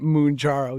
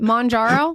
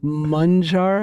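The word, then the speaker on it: Mounjaro: at dear media he always gives me for calling it mojarro he's like it's mun like sounds like someone on the yeah I like I how do you say it mjo monjaro mararo okay so how did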